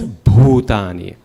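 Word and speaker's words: bhūtāni: So try to add more air to that when you say it. Can you try that again? Yeah. Nachamatstani bhutani. Yes, bhutani.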